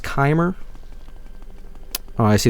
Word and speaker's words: Chimer: It's pronounced Chimer.